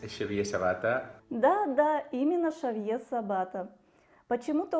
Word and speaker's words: Шавье: Почему-то у нас организаторы упорно называют его то Хавьер, то Ксавье. На мой взгляд, в этом нет необходимости. Шавье, или как допустимый вариант Шавьер, прекрасно ложится на русский язык. Хавьер даже пишется по-другому. Ксавье – это французский вариант.